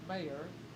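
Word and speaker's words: Meagher: And her last name is Mayer, and it's spelled M-E-A-G-H-E-R.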